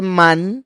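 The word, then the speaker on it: מן: Por eso es que se le llamó man, lo que conocemos como maná, o sea, se le quita la última a para pronunciarlo como aparece en la Torá.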